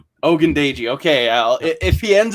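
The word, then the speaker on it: Ogundeji: combo okay and then last name is pronounced ogundaiji ogundaiji okay al if he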